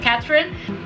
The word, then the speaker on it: Catherine: You also pronounce it in the English way, so Catherine.